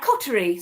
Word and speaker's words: Coterie: live on the radio by awardwinning Tracy at Cotery Leather. A very good morning to you. Hi. Am I pronouncing that correctly? Uh yeah, Coty.